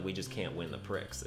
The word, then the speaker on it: Prix: Oh, the X is silent in Prix?